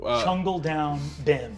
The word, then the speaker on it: Chungle-Down Bim: I liked the most, whose name I can't, Chungle Down Bim. there it is. Sorry, I was too sad to remember any of their names. Chungle Down Bim is spelled CHUNGLE dash DOW and the word